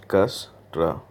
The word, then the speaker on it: Dijkstra: importance discussed algorithm and remember do pronounce it right this gas draw algorithm okay so for making